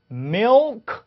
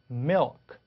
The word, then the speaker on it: milk: 점도 예쁘게 딱 찍고 그래서 milk 이렇게 하지 않죠. milk. 자, 그래서 혀가 혀 끝에 그 치경에 닿는지 잘 보시면 milk 이렇게 강하지 않아요. 살짝 닿으면서 갑니다. milk, milk. 그렇죠? 그리고 중간에 같은 게 들어가는 거 같죠? milk 이렇게 청주를 좀 어렵게 만드는 거죠.